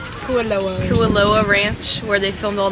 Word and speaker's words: Kualoa: Alright, so we finished our tour at, I feel like we're saying it wrong, it's not Kalua, it's Cal, how is she saying it? Kualoa Ranch, where they filmed all the movies.